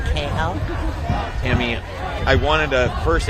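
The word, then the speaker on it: Kahel: It's T A M M Y uh K A H E L uh pronounced KL.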